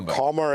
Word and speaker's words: Comber: well I'm staning and Comber or comr as it's known is gilic for m